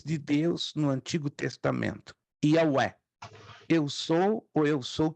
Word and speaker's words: Yahweh: Mas Jeová não é a pronúncia correta, é uma transliteração, vem do grego. O correto é Yahweh, ou YHWH.